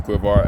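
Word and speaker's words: Quivr: uh app um and I've been pronouncing that completely wrong guys sorry um my dyslexic ass um I was pronouncing it completely wrong it's quivar um but this is the quivar app so you go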